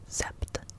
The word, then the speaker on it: sept: CE and then um seven is sept s e p t s e p d sep so like a septagon